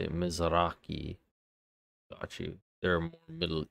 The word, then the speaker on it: Mizrahi: So that's how you say it, Mizrahi.